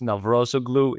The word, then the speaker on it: Navrozoglou: The surname is a little bit more difficult. Yeah, it's Navrozoglou. It's very hard to pronounce especially for non-Greeks.